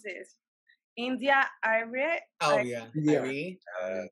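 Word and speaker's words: Arie: India Irie. Irie. Irie? That's right pronunciation.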